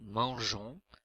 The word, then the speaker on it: mangeons: Pour ces verbes-là, il faut ajouter un E muet à la première personne du pluriel, nous, pour conserver la prononciation J. Un exemple avec le verbe manger qui fait nous mangeons, G-E-O-N-S.